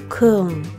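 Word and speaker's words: Köln: we head to Cologne or as the locals say Kung they've got some great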